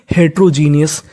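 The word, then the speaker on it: heterogeneous: इस मीनिंग के आखिरी में लिखा है ओ यू एस। तो ओ यू एस को पढ़ना है अस। शुरुआत में लिखा है एच ई टी ई आर ओ। तो इतनी मीनिंग बनी हेट्रो जी ई एन ई जीनी। इसे क्या पढ़ेंगे? जीनी तो आखिरी वाली meaning genius. H ई टी ई आर ओ हेट्रो। तो मीनिंग हेटेरोजीनियस।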